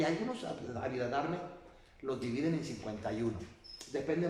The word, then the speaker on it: Abhidharma: Abhidharma. Abhidharma, así como tal como lo estoy pronunciando, así se escribe.